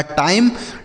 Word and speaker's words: time: एम से पढ़ेंगे म, और किसी भी शब्द के लास्ट में ई रहेगा तो उसे हम नहीं पढ़ेंगे। यह लिखा टाइम।